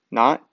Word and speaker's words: naught: And also something, just a little tip to keep in mind, if you all ever see delta G naught, the like zero superscripts, we pronounce it as N-U-A-G-H-T.